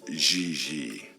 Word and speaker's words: J.J.: En français, you pronounce G like J and J like G. She may very well be JJ in America, but in France, she is Gigi.